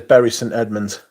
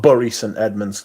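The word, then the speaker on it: Bury St Edmunds: a berry St Edmonds that is how it's pronounced as well it is berry St Edmonds it's not bur St Edmonds there's another place called bur which is called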